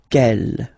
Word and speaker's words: quelle: Quelle, masculine form here, will be pronounced exactly as the feminine form here. Quelle. So only one sound, okay?